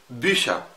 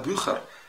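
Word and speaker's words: Bücher: زي على سبيل المثال بيشا كتب، ما انا ما قلتش بقى بيخر وناس كتير قوي بتنطقها غلط، لا هي النطق الصحيح هي بيشا.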